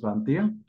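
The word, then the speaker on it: vingt et un: Pongo el et, no se pronuncia et, se pronuncia e nada más, y posteriormente le agrego la unidad, que en este caso es 1.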